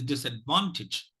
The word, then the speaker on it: disadvantage: than three three syllables automatically the last syllable is weakened so it is not Tage it is Stitch so it is disadvantage there's one more thing